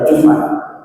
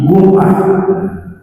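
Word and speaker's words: Gomaa: jumah nah orang Mesir menyebut nya Ali jumah pakai g bukan Jim bukan jumah Ali gumah KH sujad wasjud waar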